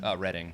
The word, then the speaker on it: Reading: you guys are from Reading, Pennsylvania? Reading. Reading. Yeah, Reading, Oh my Pennsylvania. God. What did I call it? Reading. It's spelled Reading, but it's called Reading.